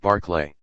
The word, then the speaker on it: Berkeley: chapter and paragraph seven first things first it's pronounced barklay instead of Beginning by stating what the general